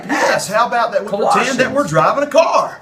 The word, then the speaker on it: Colossians: to the book of collisions collisions you need Colossians I think you've been